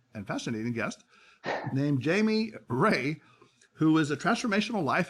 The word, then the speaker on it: Rea: here i appreciate it the same pronunciation how to get your yeah your name was ray so i had to get that down so we got that